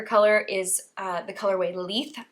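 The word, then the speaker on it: Leith: is uh the colorway leaf I believe is how you say it l-e-i-t-h and then the contrast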